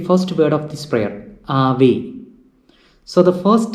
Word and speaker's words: Ave: So we say Ave. It is not Ave, but it is Ave. So normally the accent is on this penultimate or the second last syllable.